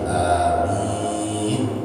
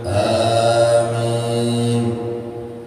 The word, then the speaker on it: Amin: Amin. Dia dibaca lagi, jadi A-nya panjang. Amin. Enggak, amin. Enggak. Amin juga tidak. Bacanya A-nya panjang.